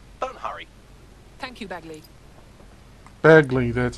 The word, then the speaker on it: Bagley: Bagley, that's how it's pronounced.